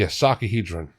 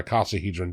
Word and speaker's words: icosahedron: Finally, we get to the traditional star of the show, the D20, otherwise known as the icosahedron, or icosahedron, depending on your pronunciation. I heard it both ways, which is 20 triangles carefully laid out to form a near-perfect circle.